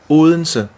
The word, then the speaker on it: Odense: It's spelled Odense, but you Odense. kind of have a soft D, so it's Odense. Odense. Odense. It's almost like an L.